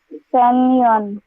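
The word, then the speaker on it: San Juan: Carmen Carmen I'm from Sanan J is pronounced as Y J is pronounced as Y over here. Sanon.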